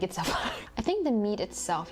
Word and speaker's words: pho: i had no idea pho was pronounced fa i used to pronounce it as faux i like that that